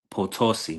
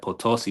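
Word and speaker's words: Potosí: So, Arena Calo San Luis Posiso San Louis Potosi. My bad. Potosi. Maybe that's how you pronounce it.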